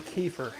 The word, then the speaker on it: kefir: People are saying kefir.